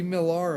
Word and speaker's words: Millar: and and Adams like because his name stuff pronounced Millar because he's French right oh but everybody over here in even cluding Mark Miller himself pronounces it Miller but they did a up I looked up